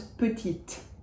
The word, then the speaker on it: petite: If I add an E to petit, it becomes the feminine version of petit, little, and it becomes petite. So that final E breathes life into the consonant before it.